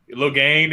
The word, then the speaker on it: Logain: with a silent I. Logain, if you prefer.